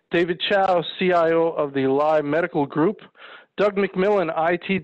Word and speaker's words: Luye: Anthony is pronounced Luye, Luye, not lie, Luye.